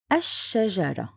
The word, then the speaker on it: الشجرة: The second word is الشجرة. Here this is لام شمسية written but not pronounced.